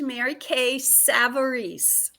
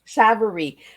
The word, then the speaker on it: Mary Kay Savarese: Yep, and my name is pronounced Mary Kay Savarese. Savarese.